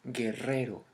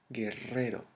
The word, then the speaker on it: guerrero: of a word or when we have two r's at the middle of one we pronounce it stronger for example the word guerrero that you may pronounce as guerrero it's guerrero guerrero guerrero same for the